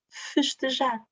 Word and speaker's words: festejar: Esta parte, em posição átona, é festejar.